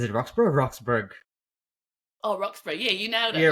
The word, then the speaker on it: Roxburgh: Oh, Roxburgh. Yeah, you nailed it. Yeah, Like Roxburgh. Edinburgh. Yeah, because it's like it's spelled like Edinburgh, so I pronounced it that way, but I wasn't sure.